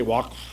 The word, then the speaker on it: Waqf: Can you say Waqf? That's how they pronounce it.